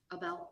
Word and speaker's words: Abel: It's Abel, Abel, thank you. but I believe it's pronounced. I love how he's the frustrated A-B-E-L. one here. He's sitting there, oh, like he's the frustrated one. Abel, thank you.